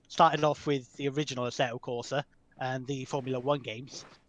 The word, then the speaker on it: Assetto Corsa: I'm playing right now assetto corsa competition II gotta say it like an Italian I think that is correct I don't have enough arte to properly nail the Italian so yeah primarily